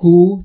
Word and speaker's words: who: در who دوبلی کلن تلفظ نمیشه، پس حواستون باشه who گفته میشه.